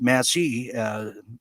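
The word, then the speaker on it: Massie: In addition to that, some massive real deal politics, as massive rhymes with Massey, Massey Parkou, that is, as Thomas Massey is now my prediction.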